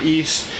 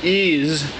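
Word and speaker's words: Ys: There is no apostrophe in East, and despite whatever you hear on other people's channels, it is not pronounced Ease. like ease your way into this game. It is pronounced east. The S is sharp.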